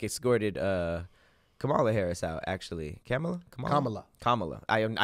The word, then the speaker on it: Kamala: He like escorted Kamala Harris out, actually. Kamala. I every time I say it, I'm like. Think comma and then law.